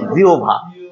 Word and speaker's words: জিহ্বা: অনেকে জিহ্বা বলে, অনেকে জিহ্বা বলে, অনেকে অনেক উচ্চারণ করে, কিন্তু এটা উচ্চারণ সঠিক হচ্ছে জিহ্বা।